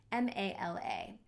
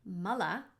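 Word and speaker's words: mālā: English lettering ma la and if you say mullah too short us sounds it would mean poop or excrement or waste mullah means bodily waste and mala if we to transliterate it put a line above that first a making it a long ah sound mala means a prayer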